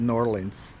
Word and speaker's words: New Orleans: They call it Norlands.